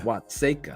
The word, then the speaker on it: Watseka: Watseka.